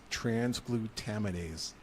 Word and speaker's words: transglutaminase: It's actually pronounced transglutaminase, to turn scraps into a solid-looking fillet.